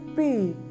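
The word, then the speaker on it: pige: And G-E is almost soft and it is unstressed oo sound.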